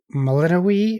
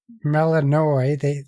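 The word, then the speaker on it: Melinoë: But yeah, you play as Melinoe or Melanoi. Their characters say it different. So some characters say her name one way, some characters say it the other way.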